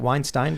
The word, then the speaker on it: Weinstein: the good weinstein brothers is it weinstein weinsteins like einstein those are the good guys weinstein brothers by rhyming oh it's right there i should've read it yeah rhyming with einstein p.s i'm a s-a-h-m